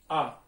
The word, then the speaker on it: ha: अब पेपे है third person में हम क्या लगाते हैं, आ, एच ए, आ, एल ए या उस्तेद के लिए हम लगाते हैं आ, एच ए, ठीक है, एच साइलेंट है।